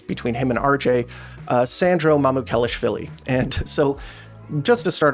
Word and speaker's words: Mamukelashvili: And I've had, some issues pronouncing people's last names, but with Mamu, his name is phonetic, like Sandro, and just read the letters. Mamukelashvili. Mamukelashvili.